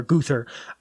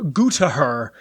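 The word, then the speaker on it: Gruthar: guther g r u t h a r guther I looked up how to pronounce it and it was like goo to her and I was like that's not correct so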